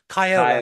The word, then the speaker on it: Chiola: Chiola. Now, how am I pronouncing this? Chiola? Kyle, Chiola. Kyle, yep.